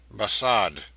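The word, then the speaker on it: Barsad: "Bassad," said Defarge, making it French by pronunciation.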